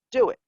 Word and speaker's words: DUIT: And the acronym was DUIT, which is pronounced do it.